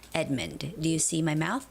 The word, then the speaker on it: Edmund: And the name of the company is Edmund. Edmund. Edmund. You know, like there's a name of guy, Edward. Edward. Ed- Ed- but it's not Edward, it's Edmund. Edmund. So, don't say Ed-mund. Ed-mund. Because O doesn't have a stress. So, you wouldn't say Ed-mund, but it's more like Edmund.